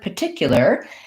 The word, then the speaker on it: particular: a little bit easier the word particular has second syllable stress and so what that means is that the tick syllable has a clear vowel and